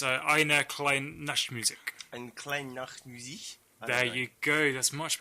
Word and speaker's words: Eine kleine Nachtmusik: Eine kleine Nachtmusik. There you go. That's much better pronunciation than me.